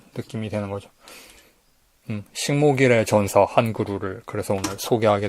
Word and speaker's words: Hun-Gurrr: 일본에서는 일본식으로 이걸 읽어서 이걸 헝거로 안 읽고 한그루라고 읽어요. 한그루. 한글이 있지 않습니까? 우리나라의 언어요. 언어가 아니라 우리나라의 문자야. 문자 한글. 그 한글을 일본에서 한그루라고 하는데, 그 한그루를 길게 뺀, 그 루를 길게 발음하는 거죠. 한그루인 거죠.